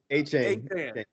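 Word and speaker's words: Achane: A-Chain.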